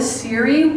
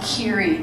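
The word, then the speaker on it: Ceri: I know that Siri was, or Kiri, I mispronounce it. It's actually pronounced Kiri with a hard K.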